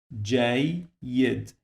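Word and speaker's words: جيد: So I say Jayyid. So the first syllable, actually, it is this part. So here it is J, and the second one is Y. So we have now 2 syllables.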